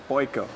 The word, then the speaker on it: Boyko: It's tricky in Hungarian. Normal, but Boyko, that's the tricky part. Boyko.